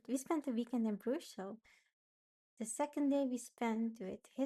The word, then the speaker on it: Brugge: Then, um me and my boyfriend went on a trip to Brugge in Belgium. I think the English way to pronounce it is Bruges. Not sure. But yes, we call it "Brugge".